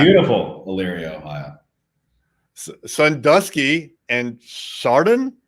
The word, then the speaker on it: Chardon: Sandusky and Chardon? Chardon, you got it.